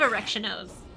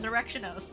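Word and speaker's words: Erichthonios: me and clip me saying, "Oh, I love Erectionos." I don't think they'll notice anything odd about pronouncing someone's name correctly.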